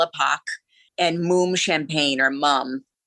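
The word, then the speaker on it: Mumm: and Moom Champagne, or Mum. It's pronounced Moom? It's actually pronounced Moom.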